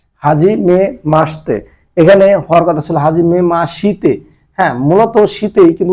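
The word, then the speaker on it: はじめまして: মানে অনুশীলন বা প্র্যাকটিস রেনসুর মধ্যে আমার যে প্রথম যে ওয়ার্ডটা আছে এটা হচ্ছে হাজিমে মাসতে হাজিমে মাসতে হাজিমে মাসতে এখানে হওয়ার কথাছিল হাজিমে মাশিতে মূলত শীতেই কিন্তু উচ্চারণের সময় হাজিমে মাসতে মাসিতে হ্যা হাজিমে মাসতে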